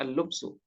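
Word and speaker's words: اللبس: Nah, ini la'alla shawab bacanya al-lubsu.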